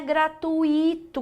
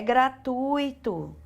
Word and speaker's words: gratuito: Não é gratuito, galerinha, é gratuito.